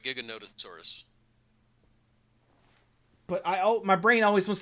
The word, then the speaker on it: Giganotosaurus: The problem is, I don't know how you say it, because your brain says it's Gigantosaurus, but it's not, because there's an extra O in there. And I think it's like Giganotosaurus. Giganotosaurus?